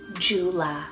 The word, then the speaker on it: Jula: then for a really uncommon J name guys Jula spelled j-u-l-a Jula I had to put this